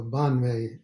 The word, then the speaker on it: padme: jewel in the lotus so bon may here phonetically but you see it as padme p-a-d-m-e and that's a lotus and mani is jewel